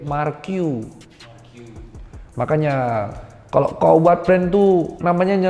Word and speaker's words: Marque: jenenge aw itu ternyata dia bilang dog bacanya bukan marque Mark you Makanya kalau Kowad pintu